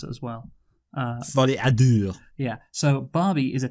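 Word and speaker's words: Folie à Deux: That's how you pronounce it as well. Folle à Deux.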